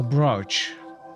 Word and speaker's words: brooch: and in fact feel grateful for correcting my pronunciation Roach so brooch okay welcome back you have done a great